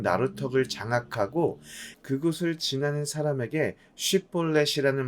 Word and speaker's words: 쉽볼렛: 장악하고 그곳을 지나는 사람에게 쉽볼렛이라는 말을 하게 해서 발음을 잘하면 지나가게 하고 발음을 못하고 십볼렛이라고 말하면 그를 죽였다고 기록하고 있습니다. 한국 사람들이 영어의 R 발음을 못하고 P와 F 발음을 못하는 것처럼 에브라임 사람들이 쉽볼렛 발음을 못하는 것으로 에브라임 사람인지 아닌지를 구분해서 죽인 것이지요.